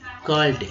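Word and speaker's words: difficult: विकट यानी कि मुश्किल, डिफिकल्ट, कल्ट, यू का उच्चारण यहाँ भी अ के रूप में किया गया है, यू रहते हुए भी।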